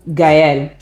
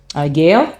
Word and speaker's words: Gaëlle: And then we follow Gaëlle. Gail, I guess that's how you say it in French, but in English, but in French it's Gaëlle.